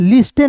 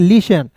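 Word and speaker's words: listen: एल आई एस टी एन लिस्टेन नहीं पढ़ेंगे। इसे पढ़ेंगे लिसन।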